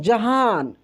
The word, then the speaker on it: जहाँ: खूब ध्यान से देखिए, इसका उच्चारण जो हो रहा है जहान, लास्ट में एन हो रहा है, लास्ट में एन न हो रहा है ना, लेकिन न आधा हो रहा है तो बिंदी है।